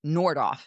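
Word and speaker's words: Nordhoff: And it's Nordoff. I'm sorry I I mispronounced that.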